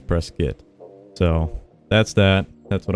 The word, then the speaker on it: Prescott: say it it is if you're from Arizona you say press-fit it is not Prescott some people say press gut and Prescott and press kit but I think the proper way to say it is press kit so that's that that's